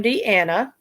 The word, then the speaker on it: Diana: Yeah, you pronounce her name Deanna, and it's spelled Diana.